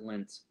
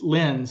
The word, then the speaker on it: Lenz: and I pronounce it Lenz. Lenz, yeah, Lenz. Or see, sometimes it can be like Lindsay, but I think it's Lenz.